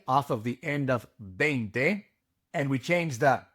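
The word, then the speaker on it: veinte: Bente 20. Bente. Remember that the V is pronounced like a B in English and that you must pronounce the E and the I. It is not vente.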